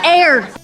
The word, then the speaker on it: heir: It's heir. Despite pronouncing it correctly in previous episodes, and many future episodes.